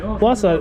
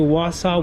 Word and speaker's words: Wausau: need that is awesome um how do you pronounce the name in wisconsin where you're at wausau that must be like a native name huh